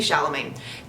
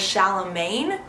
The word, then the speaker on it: Chalamet: I would just like to say real quick, I thought his last name was Chalamet. Like Charlemagne. It's not. It's Chalamet. You don't pronounce the end. There's no N in there.